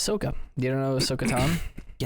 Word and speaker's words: Ahsoka: It's Ahsoka.